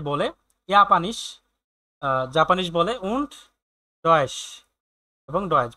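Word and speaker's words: Japan: জাপানের টোকিও থেকে এসেছে জি স্প্রিক্ট সে বলে ইয়াপানিশ জাপানিশ বলে উন্নয়েশ এবং ডয়েস বলে লার্ন ইংলিশ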